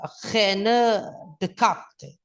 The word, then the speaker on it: René Descartes: Ya, Italia ada Leonardo da Vinci, ada Machiavelli, Inggris ada Francis Bacon ya, Bacon ya, ada Prancis ada René Descartes ya, bacanya René Descartes.